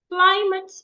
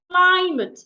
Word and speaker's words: climate: Climate is a noun. 2 syllables. Climate is not climate. It's climate.